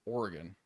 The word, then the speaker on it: Oregon: So, like, it's just Oregon. It's not, there's a sound in the middle syllable. It's not actually said as Oregon or Oregon, which, you know, like,